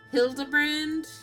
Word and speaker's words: Hildibrand: It's pronounced Hildabbrand.